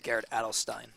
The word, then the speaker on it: Adelstein: by the way um I've been saying it wrong for years but I'm told it is Garrett adelstein oh stop it yeah serious